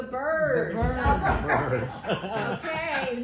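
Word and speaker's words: Byrds: Eagles the Eagles bir it's the birds bir bird okay not spelled the same but it's the birds so I'm here to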